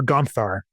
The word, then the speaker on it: Gonzar: And it is after a town that I had stayed in called Gonzar. And Gonzar was the first, or Gonthar is how it's pronounced.